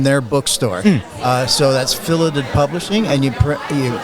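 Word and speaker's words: Filidh: Uh so, that's Filidit Publishing and you you spell it f i l i d h. It's a Gaelic word and they pronounce it Filidit.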